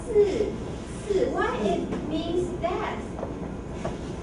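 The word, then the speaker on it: 四: Si. Why it means that? Si. Has similar pronunciation with si. Si means die or death.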